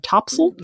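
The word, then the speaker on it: topsail: main sale and your top sale more commonly pronounced mainil and topsil I've never heard of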